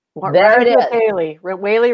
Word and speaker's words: Wehle: I mean, it's said like a whale, but it's Wehle. So, right. There it is. Wehle rhymes with daily.